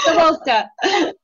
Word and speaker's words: Kozlowska: Kozlowska. Did I get it right? Yes. Yeah. Good job. Yes, it was the perfect pronunciation.